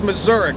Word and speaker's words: Mazurk: I've been mispronouncing his name for so many years now, it's not even funny. So if you guys see him or you get on board, it's Mazurk, all right?